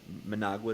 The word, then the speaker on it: Managua: I had never heard of Managa is how you say it.